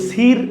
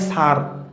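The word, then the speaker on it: sir: কিন্তু আমি যদি বলি এস আই আর উচ্চারণ কিন্তু সির হয় না উচ্চারণ হয় স্যার অর্থাৎ আমরা দেখতে পাই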